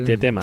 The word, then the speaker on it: Tietema: Se pronuncia Tietema, o ¿cómo se pronuncia el nombre del...? Sí, Tietema.